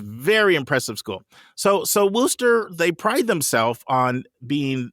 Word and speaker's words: Worcester: and by the way it's pronounced wooster like woof almost like woof of a dog so it's a little